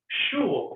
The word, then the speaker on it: school: No, it says Schul, doesn't it? Because it's actually a German word, it turns out, right?